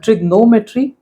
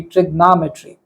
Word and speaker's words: trigonometry: you should say uh trignometry and uh if you want to follow the American pronunciation then it should be trigonometry okay so normally people